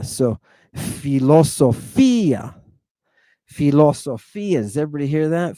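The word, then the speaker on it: φιλοσοφία: Fi, lo, so, fi, ah. And we put the accent over the iota. So, philosophia.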